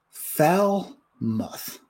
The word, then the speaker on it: Falmouth: mom says look at mine fall myth that's not right tom tom's gotta get it right it's pronounced fell muff falmouth how was it